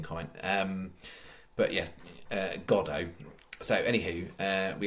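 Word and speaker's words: Godot: then go uh go it's not God is it it's godo I was half in mind last night when I was reading it and stuff because you technically would phonetically read that as God dot but yes godo as been waiting for godo there's a famous uh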